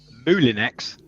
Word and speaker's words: Moulinex: And Huey's showing you the correct pronunciation. Moulinex.